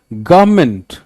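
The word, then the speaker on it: government: अब यहां पे गव पे ज्यादा जोर है, और ये जो आर एन वाला पोर्शन है वो बिल्कुल ना के बराबर है.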